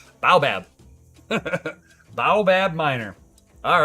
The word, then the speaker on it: baobab: tree uh uh Bayou Baba or bae Baobab Baobab okay Baobab Miner okay bow bad minor